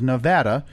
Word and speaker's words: Nevada: Gordon to Time magazine apparently the only acceptable pronunciation of the state is Nevada no balancing the state's name incorrectly can draw